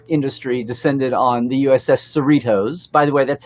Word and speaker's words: Cerritos: ship porn nerd industry descended on the USS Cerritos by the way that's how it is said